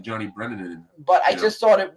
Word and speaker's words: Brennan: him to put Johnny Brennerman on the phone, do Do the Frank Rizzo voice. So it's John Brennan. You seem to be adding a few extra syllables.